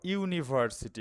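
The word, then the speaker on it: university: তো দেখো ইউনিভার্সিটি এখানে ইউ এর উচ্চারণটা ইউ হচ্ছে।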